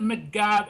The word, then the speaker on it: McGab: of your name well let me correct you it's mcgov and now of it yeah I'm sorry well